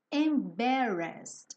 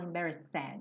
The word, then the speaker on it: embarrassed: Embarrassed. Essa palavra é grande, mas ela não é difícil, tá? Embarrassed. A mesma coisa, eu não vou pronunciar o E, então eu não falo embarrassed. Embarrassed, embarrassed, embarrassed, ok?